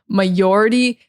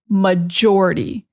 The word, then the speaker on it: majority: Spanish speakers, will say majority. They're not pronouncing the J strong enough. It is majority. You need to be pronouncing that J very strong. It's not the same as a CH. It's not maturity.